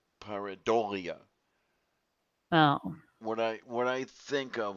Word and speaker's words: pareidolia: Um, they have the accent on the third syllable, so it's pareidolia. Oh. What I think of, what I hear in my head is pareidolia.